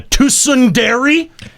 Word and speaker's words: tsundere: It's Tsundere. There's Too a T. soon. There's a T there.